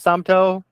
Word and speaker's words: Somto: Is that how you pronounce it, Somto? Yeah, Bob? you pronounce it correctly.